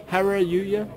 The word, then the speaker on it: Hareruya: How do you say it? Hareruya. Hallelujah. Like hallelujah.